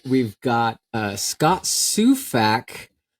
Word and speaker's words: Sufak: it's just s UF a k that's right suac is that pronounced properly that's right yeah try to keep